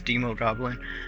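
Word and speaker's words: Demogoblin: Green Goblin, the Hobgoblin, or the Demo Goblin, or Demon Goblin. I'm not sure how you say it. It's Demo Goblin.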